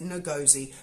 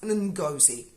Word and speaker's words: Ngozi: her name correctly because last night I said no gozi but I've listened very carefully to an interview of her on LBC this morning and it's I believe pronounced ungozi uh so and goes he